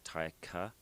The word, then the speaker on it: Taika: It is like tiger, but with a K, and instead of the ER at the end, we put an A, so it's like Taika. And it's actually Taika.